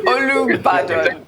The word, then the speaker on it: Olubadan: It's Olubadan.